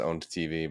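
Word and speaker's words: Own3d.tv: anybody who remembers like i never knew if it was like oh like owned tv i assume it's just pronounced owned tv but you know own with the tv former rival of twitch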